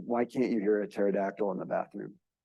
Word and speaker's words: pterodactyl: So why can't you hear a pterodactyl in the bathroom? Because the P is silent.